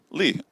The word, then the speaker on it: Lea: Is it Leah or Leah? Lee. I've been pronouncing it wrong the whole time.